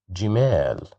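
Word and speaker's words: جمال: Jimal, jimal, jimal, which means camels. So here we have kasra, that's why we pronounce it as ji, jimal.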